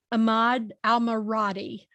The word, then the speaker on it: Ahmad AlMaradni: is so good today for me to have ahmad al-maradi the southern girl and the pronunciation did i do okay that's absolutely right